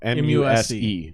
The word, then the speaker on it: Muse: M-U-Z or no, M-U-S-E. Yeah. Muse. Like Muse. Oh, Muse. Yeah. Okay. Like you're my muse.